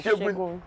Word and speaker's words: Segun: S in Yoruba is Sha. Yes. So you see the name Segun, you say Segun, yeah, by Shegun.